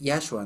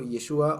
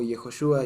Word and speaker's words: Yeshua: más Sí justamente Bueno no es yahua no eso no existe vale la pena decirlo super pronunciado pero Eh sí es mejor decirlo yeshua o yehoshua y así eso pero